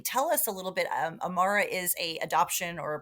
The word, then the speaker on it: Amara: And is that organization, is it Amara?